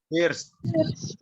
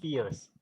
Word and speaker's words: first: Cara bacanya bukan fierce, tapi first. Perhatikan. First. First. First. Bukan First. fierce. Kalau First. fierce itu artinya kejam.